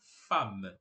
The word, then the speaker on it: femme: La Femme La Femme você vai perceber que tá escrito fem mas a gente não pronuncia esse e a gente fala fam então Lom la fam